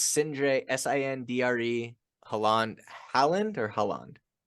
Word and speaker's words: Sindre: Well, listen, Sindre, I appreciate so much you being on the show.